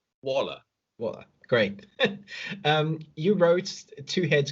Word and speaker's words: Waller: Did I pronounce that right, Waller? Yeah, Waller. Okay. From the French and German. Waller.